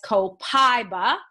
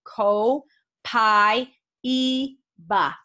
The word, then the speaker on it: copaiba: kopeck oh so interesting dr. hill often says copaiba like i have i'm gonna have a slice of pie co-pi BA but co-pi copaiba comes from from Brazil and other spanish-speaking countries and if you were pronounced in Spanish we pronounced the a and the I independently so if you are a Spanish speaker you can call it co pi e ba copaiba so either one is correct copaiba or copaiba if